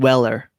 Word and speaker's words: Weller: So I know I've been informed by my buddy Todd Carnes that I'm not allowed to pronounce the S. That does not exist.